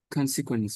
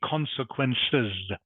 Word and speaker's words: consequences: so it must be consequences. Consequences. Consequences. Consequences. Good, better. That is correct. Has the S on the end, which you must pronounce.